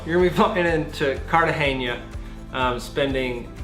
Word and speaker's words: Cartagena: And remember, in Spanish, G's are pronounced like H's, so it looks like Cartagena.